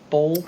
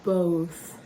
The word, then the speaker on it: both: but all I know I pronounce it more like bold awkwardly and I was